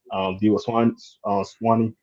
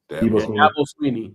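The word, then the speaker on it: Dabo Swinney: Debo Swanee, I think I say his name right. I'll be messing up people's names. Sweeney. Sweeney. Sorry, Sweeney. Dabo Sweeney.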